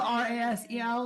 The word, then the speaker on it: Rasel: Razel R A S E L. If I'm saying your name wrong, forgive me.